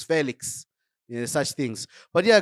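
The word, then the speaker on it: Félix: He's gone now, but it was never Felix. It was Felix.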